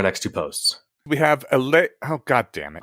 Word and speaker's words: Allais: We have Allais. Oh, God damn it. Allais Malaise. All right. See, the S in Allais is silent, apparently.